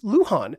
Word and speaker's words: Luhan: ancestors so red Sunrise his last name is Luhan l u h an which is just so